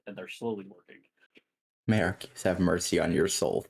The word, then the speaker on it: Arceus: May Arceus have mercy on your soul. Thank you. It's pronounced Arcus.